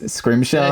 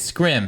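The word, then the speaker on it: Scrimm: I think you said his name was Angus Scrimshaw. That's it. Yeah, I know I butchered it. Angus Scrim.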